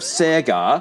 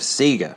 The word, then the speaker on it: Sega: my pronunciation of Sega I know the rest of the world says Sega and a lot of Australians would too because it's been a long time since Sega was a household name I'm not making up the Sega pronunciation if you look at old TV ads from Australia they all say Sega seag SE SE SE SE nobody I knew when I was a kid said Sega so for whatever reason Sega